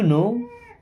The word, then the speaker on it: know: okay, do यू नो, do means होता है क्या, यू मीन्स आप, नो अब यहाँ पे के साइलेंट होता है ना, डू यू नो